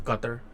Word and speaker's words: Qatar: So this is like, so obviously Al Jazeera is I think they're from Qatar, yeah, they're from Qatar, right? Or Qatar, depending on how you like to pronounce it.